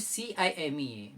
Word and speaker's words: CIMEA: सीमिया certificate बनाना है, which is CIMEA, which is नॉट चीमिया, इट is pronounce as, all right.